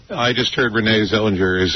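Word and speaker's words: Renée Zellweger: And then, I heard Renee Zellweger is 1 month vomiting away from being really hot.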